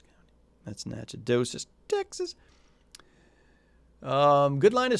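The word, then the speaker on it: Nacogdoches: in the rains is out in nowhere name nachodoges that's how you pronounce that by the way nachodocious county that's nachodosus texas um good line of storms there but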